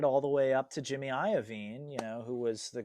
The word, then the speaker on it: Jimmy Iovine: So Jimmy Iovine, I think that's how you say it.